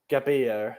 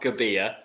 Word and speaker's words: Gabbia: How do you say Gabbia? Gabbia. Matteo Gabbia. Yeah. Gabbia. Not Gabbia. Gabbia.